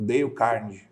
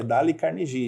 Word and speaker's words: Dale Carnegie: que se escreve né É dale carnegie a gente lê o deio carne Né verdade mas é d carnegie então procurem lá vale